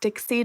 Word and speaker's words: Dixit: It looks like Dixit, but it's pronounced Dixie just because it's, I don't know, French or like Romanian or something.